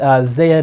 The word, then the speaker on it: zed: Aristel Comics was created by a Canadian comic artist, and Zed in Canada is how you say Z.